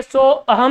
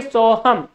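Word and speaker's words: सोऽहम्: अब इसको हम क्या बोलेंगे? सो अहम नहीं बोलेंगे, इसको हम बोलेंगे सोहम। क्या बोलेंगे? सोहम, यानी कि उस अ का उच्चारण नहीं होगा।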